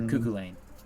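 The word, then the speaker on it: Cú Chulainn: not even worth it think of like cuckoo like a cuckoo clock and then Lane like a like a a road and just put it together cucko Lane the H is silent in his last name makes sense so Tony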